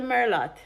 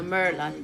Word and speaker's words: Merlot: It's not, the T is silent for a reason. So it's not Merlot, please. Nobody make me ear no call no wine no Merlot. There's nothing by the name Merlot. It's Merlot.